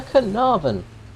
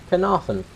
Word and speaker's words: Caernarvon: some stage on the canavan or if you want to pronounce it properly canaran which is the pronunciation of the Welsh town it's from Wales um